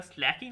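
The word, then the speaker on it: slaking: এই যে আওয়াজটা করছে, এটার একটা সাইন্টিফিক নেম আছে, তার নাম হচ্ছে স্লেকিং অফ লাইম। অ্যাকচুয়ালি স্লেকিং না, স্ল্যাকিং অফ লাইম। উচ্চারণটা হবে স্ল্যাকড লাইম, নট না তো স্লেকড লাইম।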